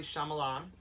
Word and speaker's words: Shyamalan: Night Shyamalan. Is that pronounced right?